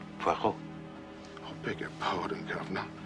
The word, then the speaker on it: Poirot: It is pronounced Poirot.